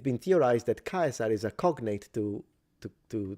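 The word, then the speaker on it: Caesar: know, but we do know that it was pronounced kaisar for anyone who's still skeptic about that and thinks it should be pronounced chazar in the ecclesiastical Latin pronunciation not 2,000 years ago. It's Kaiser.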